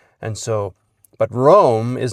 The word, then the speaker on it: Rome: Do we know whether or not Abigail pronounced it room or Rome? It's a bit uncertain. She does spell it the traditional way. Uh but there is a lot of historical precedent for being pronounced room.